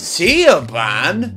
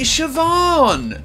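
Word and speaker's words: Siobhan: and create a humorous segment where they'd ask Elon Musk to pronounce obscure Irish names see aan no it's actually sioban and maybe follow it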